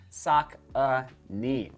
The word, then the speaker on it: Saucony: you Saka I mean they're just crushing it sock uh knee all right and the pronunciation there's the Peregrine 13.